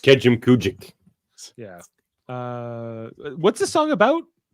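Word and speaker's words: Kejimkujik: Now pronounced Kejim Kujik.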